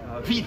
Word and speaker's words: vite: Vite. Vite, with a T. That's when you do pronounce.